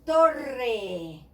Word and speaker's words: torre: But if I want a strong R in the middle, I will use two. This is the case of torre.